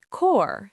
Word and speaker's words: corps: Core.